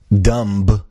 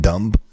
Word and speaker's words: dumb: thing now man dude dumb is not with the you don't pronounce the b in dumb in then what what